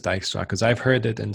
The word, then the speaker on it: Dijkstra: are left with Dijkstra and does anyone else pronounce it differently by the way not a rhetorical question no no one everyone says Dykstra because I've heard it in so many ways